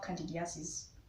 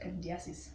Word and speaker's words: candidiasis: you they will tell you that you have candidiasis i pronounced that right candy assist yes and when you have a yeast infection